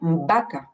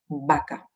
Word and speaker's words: vaca: Et alors ici, vous avez bien remarqué qu'on ne prononce pas du tout le V comme un V à la française qui vibre. Hein, c'est pratiquement comme un B, vaca.